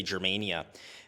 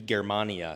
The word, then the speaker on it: Germania: this in English-speaking countries, I know we tend to say Germania, but if we're talking about the actual Roman Latin pronunciation, it should be Germania.